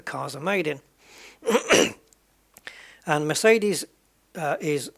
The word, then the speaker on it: Mercedes: we pronounce them, but the way that it's pronounced in the country that the cars are made in. And Mercedes is Mercedes. It's quite similar, Mercedes.